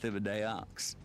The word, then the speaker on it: Thibodeaux: Oh, this is Thibodeaux. You would think that it's pronounced Thibodeau, but it's not. Hey there, partner. Name's Thibodeaux.